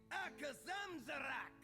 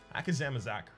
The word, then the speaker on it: Akazamzarak: Rock and Issue versus the great Akazamzarak.